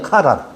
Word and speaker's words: 하란: 요게 하가 달라요. 여기서는 지명하란은 여기 숨구멍이 없어. 여기 붙어 있어. 하란. 그래서 하란이 아니라 카란이에요. 카란.